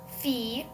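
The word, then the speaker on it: fille: means goose and um ll sometimes makes the y sound like fe means girl Um, ui is like a vi.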